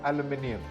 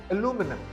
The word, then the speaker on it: aluminum: This word is not aluminium. It is, in fact, aluminum.